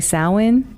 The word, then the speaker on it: Samhain: His name's Sam, which is, you know, I talked about the origin of Halloween, and it's really Samhain, although it's spelled Sam Hain, so they named this character Sam.